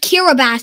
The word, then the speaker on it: Kiribati: It's actually pronounced Kiribati, but spelled K-I-R-I-B-A-T-I. It's weird.